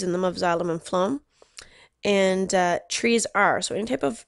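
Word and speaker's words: phloem: whereas Flo uh Flo the pH is pronounced like an F Flo carries nutrients down the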